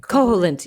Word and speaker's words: Koholint: Is that how you pronounce it? Koholint.